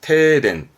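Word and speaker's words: 停電: 멈추는 정지 발음은 테시, 테시. 네, 테시. 정지하다 테시. 그러다가 전기가 멈췄네요. 네, 정전에 테덴, 테덴.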